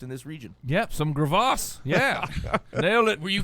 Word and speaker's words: Graves: Yeah, you saying it wrong. Yeah, it's Gravas. In French.